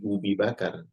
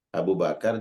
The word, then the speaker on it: Abu Bakar: Apalagi Ubi Bakar, salah itu. Ya. Pernah ada yang salah membaca. Ya. Abu Bakar dia baca Ubi Bakar. Pagi-pagi Nabi Shallallahu Alaihi Wasallam mencari Abu Bakar, dia salah bacanya.